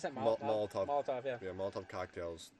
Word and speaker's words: Molotov: How do you pronounce that? Molotov.